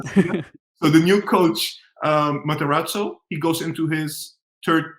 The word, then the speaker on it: Matarazzo: So the new coach, Matarazzo, he goes into his third season in the Bundesliga, right?